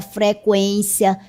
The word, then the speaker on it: frequência: E agora todas essas palavras são escritas desta forma, sem o trema, 50, linguística, consequência, frequência, tranquilo. Note que a pronúncia continua sendo a mesma com o u.